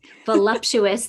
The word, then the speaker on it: voluptuous: Voluptuous, there's no M. People mispronounce it all the time.